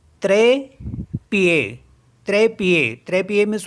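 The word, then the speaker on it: trépied: word है हमारे पास टी आर ई पी आई ई डी तो यहां पे ई है ई के ऊपर एक्सेंट मार्क है तो इसको भी ए पढ़ेंगे और ईडी लास्ट में तो उसको भी ए पढ़ेंगे तो इसे ऐसे पढ़ेंगे त्रे पीए त्रे पिए त्रे पीए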